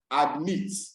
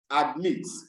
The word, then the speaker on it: admit: But if I realize that it is a verb, automatically or usually the stress will be on the last syllable.